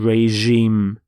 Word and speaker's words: regime: here is changed to reg regime notice the pronunciation of the G is the sound regime so the facet the fascist regime of Germany